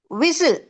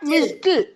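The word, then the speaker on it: whistle: next one விசில் விசில் நாட் விஸ்டில் தீ வராது only விசில் right last one ஆன்சில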